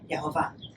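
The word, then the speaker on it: יהוה: with the Hebrew letters Yud He Vav He, pronounced Yehovah.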